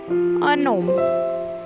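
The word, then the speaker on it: un homme: Okay, let's have a look how we use a gnome. Means a man. In this case we h is silent, h is vowel.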